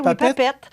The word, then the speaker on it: PAPET: Est-ce que je le prononce Papette. Bien? Oui, oui, Papette.